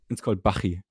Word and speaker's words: Bachi: It's called Bachi.